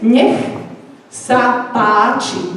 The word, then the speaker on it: nech sa páči: Next apache, which is nech sa páči. Nech sa páči. and it means here you are, here you go. So this is how we write it and pronounce it.